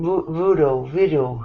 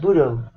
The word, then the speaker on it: bureau: No, I mean bureau. How do you pronounce that? Bureau. Bureau. Bureau. Bureau. It's pronounced the same way as the Federal Bureau of Investigation, the Bureau of Firearms